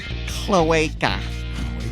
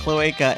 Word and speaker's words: cloaca: Cloaca. Or cloaca. I like the Latin pronunciation.